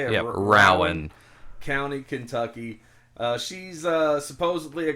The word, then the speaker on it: Rowan: Yep, Rowan.